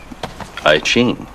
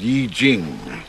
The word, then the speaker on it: I Ching: I Ching. It's pronounced Yi Jing.